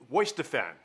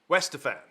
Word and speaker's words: Weihenstephaner: It is pronounced Weihenstephaner. Weihenstephaner. It doesn't look like that, but it is the number 3 best chosen Pilsner in the whole list.